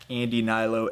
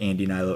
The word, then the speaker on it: Andy Hnilo: Twitter and then Facebook Andy Nylo A N D Y H N I L O H is silent.